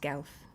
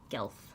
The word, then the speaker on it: Guelff: Like elf with a G in front. The U is there to confuse people. It's just Gelf. Gelf.